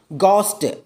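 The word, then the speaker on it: ghost: ഗോസ്റ്റ്, ഗോസ്റ്റ് എന്നതിൽ എ എച്ച് ആണ് വരുന്നത്. അതുപോലെ അഗാസ്റ്റ്, ഗോസ്റ്റിൽ ഹ സൗണ്ട് സൈലൻ്റ് ആണ്.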